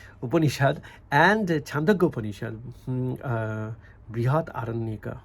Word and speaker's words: Brihadaranyaka: So in this sense, compared to Gaudapada's Karika and the Brihadakaranya, Brihadaranyaka Upanishad and Chandogya Upanishad, Brihat Aranyaka. I mean, this is how it should be pronounced.